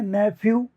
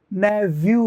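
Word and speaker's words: nephew: हैं मैंने बताया था इसके दो उच्चारण होते हैं इस पीएच को फे भी बोलते हैं नेफ्यू नेफ्यू और इसको ने नेवू भी कहते हैं नेवू तोय नेफ्यू ने फ्यू भी होता है न व्यू भी होता है न प्यू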